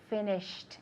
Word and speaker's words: finished: haven't finished okay good did you hear the T at the end of the verb finished exactly because I remember finished it has a hard T sound does he play football